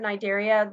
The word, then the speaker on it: Cnidaria: When you pronounce the word Cnidaria, the C is silent.